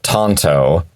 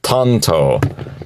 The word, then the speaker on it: Tanto: pronunciation of it tto Tanto is how the Japanese pronounce the blade that they invented now funny thing is